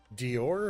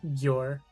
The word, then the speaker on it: Gior: Dior or Gior? With a G, Gior. With a G, okay. Not like the fashion icon?